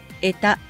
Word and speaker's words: 穢多: 汚れが多いと書いて得たと読みます。